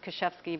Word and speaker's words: Kuszewski: And my name is pronounced Kuszewski, by the way.